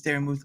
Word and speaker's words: Daramouthe: My name is Daramouthe, or Dara for short, because some people still say Daramouthe, which is a funny one since there's a silent E at the end. But yeah, yeah, I know, right?